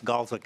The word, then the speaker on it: Galeswick: I have the first commissioner is Cass County Commissioner Galeswick. Am I pronouncing that correctly? Madam Chair, I appreciate that you pronounce it that way with Mrs. Gash, but yes, Galeswick is correct.